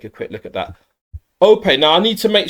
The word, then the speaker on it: Ope: So traditionally it's pronounced Ope. There's slight different sort of intonation there. It's like changed there. Ope. But we might say in England OP or something, but that's incorrect apparently. He'll explain why he says it in that way. But it's Ope rather than OP.